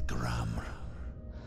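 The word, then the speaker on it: Gramr: The R at the end is silent.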